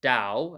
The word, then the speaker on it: Tao: tau um of course I believe it's actually pronounced Dao as in like taoism and the English pronunciation